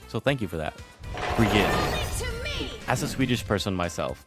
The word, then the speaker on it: Brigitte: First off, her name is Brigitte. That is how you would pronounce it in Sweden.